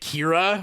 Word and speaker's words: Kira: Is it Kira? Oh, it smells. Yeah, that's how it's pronounced in the movie. But anyways, yeah. I mean, Kira, likes to dance.